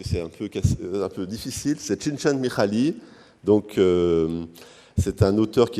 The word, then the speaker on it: Csikszentmihalyi: Après, on a, alors je vais vous dire comment on le prononce, que c'est un peu difficile, c'est Csikszentmihalyi, donc c'est un auteur qui est de Chicago et qui a travaillé sur la notion de plénitude.